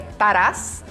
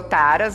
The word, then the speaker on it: Taras: Então aí, meu sobrenome é ucraniano, as pessoas perguntam muito, a pronúncia correta seria Taras. Né? E ficou Taras, abrasileirado e tal, e tá tudo certo.